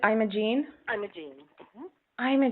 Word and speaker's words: Imogene: past whose name was Imogene and so when you shorten that to Jeannie I thought that would be great to just make her the yarn Genie oh so you've pronounced it I'm a gene I'm a gene I'm